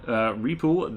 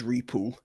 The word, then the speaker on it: Repool: From Repool, the Anglophile in Nebraska. The pronunciation is Repool. Repool. Okay.